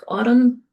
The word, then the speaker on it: autumn: Um, as I just mentioned, silent letters are not transcribed. So in this little cartoon, a word like autumn, um why is that in there? It we don't hear it, right?